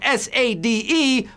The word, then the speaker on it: Sade: female vocalists and includes the hit smooth operator it's spelled sa de but it's pronounced Sade Sade baybay and we